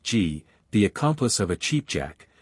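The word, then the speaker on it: gee: A G or G, it is pronounced G, the accomplice of a cheapjack, who stimulates trade by pretending to buy something.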